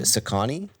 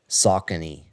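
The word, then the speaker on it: Saucony: it what what did I say it's actually pronounced oh sakani yeah that's how you said you what I that's what I thought it was at first until I looked it up but it's actually socky yeah like sock yeah yeah sock uh KNE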